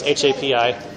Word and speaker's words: Hapi: The god was named Happy or Hoppy. I don't really know how to say it. Pharaoh went to his magicians and it's Hapi.